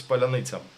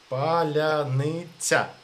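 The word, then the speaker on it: паляниця: Palyanytsia. Is Uh, Palyanytsia. It was a password in the first day of war because Russian can't pronounce Palyanytsia.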